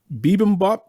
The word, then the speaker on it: bibimbap: but isn't uh am i saying this right bibimbap yes of course i love listen bibimbap is something that we eat here and and